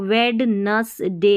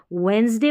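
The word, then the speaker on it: Wednesday: ना, यहाँ पर देखिए ये डी साइलेंट है इस स्पेलिंग में, इसको यहाँ पर डी को भूल जाना है, वेन पढ़ना है, WEN, वेन। ठीक है, वेन, यहाँ पर ES है, फिर वेंस, वेंस ज का उच्चारण होना चाहिए। और फिर डे है, वेंसडे पढ़ेंगे इसको, वेडनेसडे नहीं पढ़ना है,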